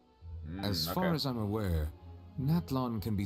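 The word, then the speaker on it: Natlan: where do I go naton that's how you pronounce it I'm calling it Natan I don't care I'm afraid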